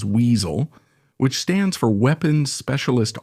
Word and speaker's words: WSO: You've probably already heard this acronym WSO, right? Which they pronounce as weasel, which stands for weapons specialist officer.